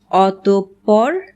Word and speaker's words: অতঃপর: তবে পদের মধ্যে যদি বিসর্গ থাকে তাহলে বিসর্গ পরবর্তী ব্যঞ্জন বর্ণটি দ্বিত্ব উচ্চারিত হয়, যেমন নিঃশেষ, নিঃসন্তান, নিঃসম্বল।